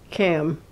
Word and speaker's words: CAM: and that's a mouthful it's easier to cut it down to one syllable and just call it by its acronym kam sometimes kam reject science